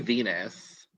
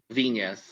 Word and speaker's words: Viñas: You keep saying Venus. Viñas. It's okay. It's the Spanish colonial influence on the Philippines.